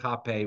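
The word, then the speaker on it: rapé: there on the right, jape with an H, and the spelling, which starts with an R. And so in Portuguese, the R sounds like an English H.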